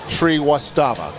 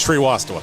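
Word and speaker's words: Srivastava: I've wrote it phonetically. Tree Wastava. You're very close. There we go. How close am I? very very close. It's Shri Wasta.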